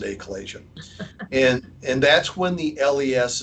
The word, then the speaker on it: achalasia: And it's pronounced different ways, but I call it achalasia, or I pronounce it achalasia.